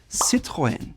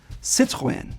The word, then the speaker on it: Citroën: It's called Citroën, and the 2 dots on the E just mean that it has to be pronounced separately from the O and the N. Citroën.